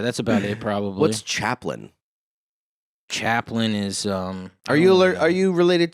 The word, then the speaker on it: Chaplain: What's Chaplain? Chaplain is Are you related to Charlie at all? No, but it used to be spelt that way. Used to be. Like Lin. Now it's Lain.